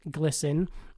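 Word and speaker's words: GLSEN: says on their website glisten which is spelled GLS en and pronounced glisten is a leading national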